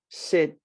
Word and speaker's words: sit: get words like this sit and seat now if you don't speak english as a first language you will say my goodness it's the same it's not i promise you it's very different pick the first one